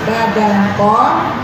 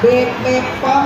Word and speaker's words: BPOM: Dalam pengucapan BPOM yang benar itu adalah badan pom atau BPOM bukan BP POM ya.